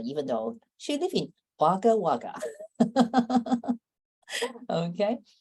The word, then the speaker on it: Wagga Wagga: though she live in Wagga Wagga okay so I can say it right Wagga Wagga Wagga Wagga right yeah correct me my English okay